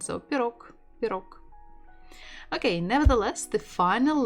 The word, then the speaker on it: пирог: And it's much easier to say K, letter K at the end. So pirog.